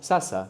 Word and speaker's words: sasa: The word for now in Swahili is sasa, sasa. S-A, which is a repeated syllable.